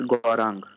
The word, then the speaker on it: Gaurang: sir. It's Gorang. It's Gaurang, yeah? Gorang. Gaurang, okay.